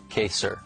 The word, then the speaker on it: Kaysar: Is it pronounced Kaysar or Kaysar? Kaysar.